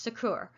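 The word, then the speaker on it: SACEUR: supreme allied commander europe or s-a-c-e-u-r pronounced sakura and they are in charge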